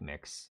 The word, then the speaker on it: Mx: they and them and their honorific is mix pronounced like mix my God Jessica Okay